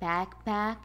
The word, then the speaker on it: backpack: Words like backpack and water bottle are called compound nouns because they are made up of two separate nouns. The stress goes on the first part of the compound noun.